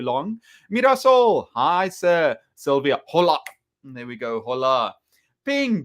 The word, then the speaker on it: hola: Hola in Spanish, the H is silent. Hola. Denise, thank you so much. I can see your language teacher. You can even teach me something new about Spanish so easily. Hola.